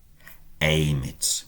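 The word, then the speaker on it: emit: Domina wenum aim it with a long e at the start.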